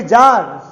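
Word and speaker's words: czar: आया तो इसे कहेंगे जार, जार, ठीक। अब फिर से देखिए, जब जेड से पहले सी आए तो सी साइलेंट हो जाएगा। आपने देखा जेड से पहले सी आया तो इसे पढ़ेंगे जार।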